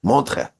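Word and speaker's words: Montreux: It's spelled with like E's and U's and X's, but the X is silent. Montre, I think is how you pronounce it.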